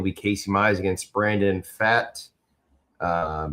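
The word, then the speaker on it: Pfaadt: Game two, Tuesday will be Casey Me against Brandon Fat. Uh the P is silent and the rubber match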